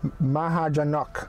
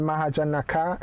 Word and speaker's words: Mahajanaka: but i'm going to go back to the pronunciation let's hear it mahajan nakuman his grandfather mahajanok so you guys were right you guys were telling me it's not mahajanaka it's mahajan so my heart to knock so